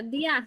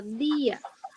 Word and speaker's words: día: Pero día marca una tilde para decir que eso no se pronuncia día, sino día, sino ia.